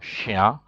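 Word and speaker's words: chien: see it is L and then you have Shia 310 c h i e n Lucia means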